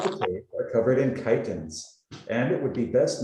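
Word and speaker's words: chitons: can see what the chitins are? They're these weird little sea creatures. Chitins. I'm pretty sure I'm pronouncing that correctly, right? It's not chicken. Yeah, it has the IPA there, chitins.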